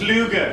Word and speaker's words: Luger: You pronounce it Luger.